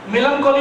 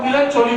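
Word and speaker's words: melancholy: অনেক একটা কথা আছে মেলানকলি বলে একটা ল্যাঙ্গুয়েজ ছিল ইংলিশে, মানে দুঃখিত যাকে বলি আমরা, কিন্তু আমরা উচ্চারণ করতে পারতাম না, তো আমরা মিলানচলি বলতাম।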